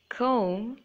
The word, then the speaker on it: comb: So the B is silent in all of these words. So let me read them out to you. Doubt, debt, climb, comb, thumb, and tomb.